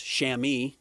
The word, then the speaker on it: chamois: A chamois cloth, pronounced chamois, extremely soft, absorbent, durable material.